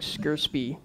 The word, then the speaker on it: scrcpy: really hard to pronounce it's called s-c-r-c-p-y it's like squarespie oh it's on GitHub